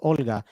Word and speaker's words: Olga: you did it's uh it's pronounced with a o instead of a u kind of sounded like that you kind of used to use the u there so it's so it's uh uh olega very close though i'll